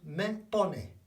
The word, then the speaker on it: me pone: Me pone, not me, remember the vowels, me pone.